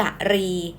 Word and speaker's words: กรี: แหลม ที่ หัว กุ้ง อีก แบบ หนึ่ง อ่าน ได้ ว่า กะรี ทั้ง ขวา มือ นะ